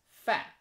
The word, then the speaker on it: 饭: And left is food, right pronunciation is fan. So a combined one is you pronounce as fan. But the meaning is food, not opposite. So fan.